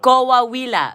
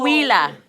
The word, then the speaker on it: Coahuila: Coahuila. Oh, Coahuila. Coahuila. Pretty close. Coahuila.